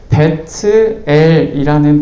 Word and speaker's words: 벧엘: 베델이라는 지명은 히브리어 그대로 그냥 베트엘이라는 발음을 그대로 음차한 것입니다.